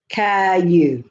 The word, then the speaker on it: Caillou: Aimed at the toddler and preschool set, Caillou is an educational show that stars the 4-year-old title character, pronounced Caillou, who lives with his mother, father, and sister in a blue house on Pine Street.